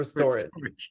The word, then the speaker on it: Restorage: How do you pronounce Restorage, yes, it? Restorage.